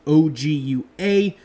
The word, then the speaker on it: Ogua: Now, to my knowledge, based on what I could find, even though the Ogua is spelt O-G-U-A, it is pronounced Ogua like A-Q-U-A, like Spanish for water, if that makes sense.